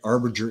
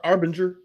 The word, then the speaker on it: Arbinger: self-deception the I'll say another one uh Arbor Arbiter Institute I think am I saying that right Arbor arbinger okay uh it may be our Banger I